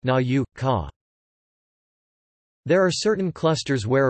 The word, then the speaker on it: nauka: The letter U represents with in the digraphs O and EU in loanwords, for example Autor, Europa, but not in native words, like Naka, pronounced Na-U, Ka.